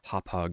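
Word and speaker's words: Hauppauge: really cumbersome software like the Hop hog HDR and yes that is how you say it uh it was really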